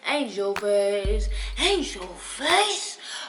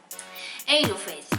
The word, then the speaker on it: Aynjewl Faycc: It is your girl, Aynjewl Faycc, right here in this video.